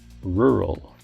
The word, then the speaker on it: rural: picture wide open spaces and grazing animals it's pronounced rural rural for example I grew up in a